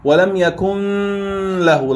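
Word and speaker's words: ولم يكن له: Why didn't you pronounce it وَلَمْ يَكُنْ لَهُ like this? Because Lam is one of the two letters, Lam and Ra, with which you don't pronounce with Gunna.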